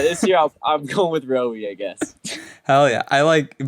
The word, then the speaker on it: Roie: I'm Rowie. That's how you pronounce it. Like Zoe with an R. That's so sick. Rowie.